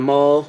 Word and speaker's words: Maule: My name is Maul. Maul like Darth Maul, but with the E. The E is silent though, but I'm not.